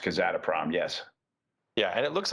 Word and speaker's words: Kazatomprom: Yeah, because I think that's how it's pronounced, Kazatomprom.